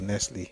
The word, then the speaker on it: Nestlé: Nestle is or Nestlé depending on how you pronounce it is 46.3 million naira at number eight.